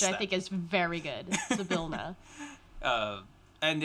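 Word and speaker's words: Zybilna: you get hired on by a warlock of Zabilna, I believe. Mm-hmm. Who there is a pronunciation guide in that is how you pronounce which I think is very good. Zabilna.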